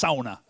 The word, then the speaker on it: Sauna: argument all the time it's Sana no it's sauna sauna yeah and did anybody else